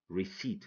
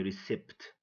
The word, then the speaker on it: receipt: P psychology say psychology receipt don't say recept okay pneumonia don't say